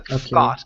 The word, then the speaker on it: thought: So the GH does not make a sound. So instead of saying thought, it's thought. Thought.